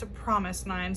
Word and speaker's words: fromis_9: like from is, but I've been instructed that they are pronounced Promise 9.